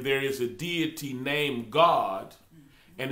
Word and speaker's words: Gad: did you know that in hebrew gad the phonics on it is g-a-w-d which is pronounced god we be saying gad but but but the